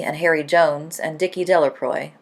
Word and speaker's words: Delacroix: Harry Jones and Dicky Delacroix the villagers pronounced his name Delacroix eventually made a great